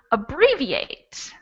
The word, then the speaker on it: abbreviate: more than three syllables the word is abbreviate abbreviate so we have a three v eight that's uh but you're right about where we put the stress it's on the second one okay and on the